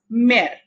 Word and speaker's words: mère: So this becomes mère. You see the difference? Été, mère. Here we are pronouncing E, A in a very short breath, and été we are elongating the E sound.